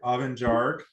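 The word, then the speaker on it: Abhainn Dearg: name up up and I don't know if I'm saying it right oven jar is how they're saying I should pronounce it um it means Red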